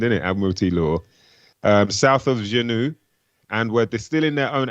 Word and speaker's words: Hoochinoo: He says, so I guess this is how you'd say, that's how it's spelled, Hoochinoo, but yeah, Hoochinoo is how you'd say it.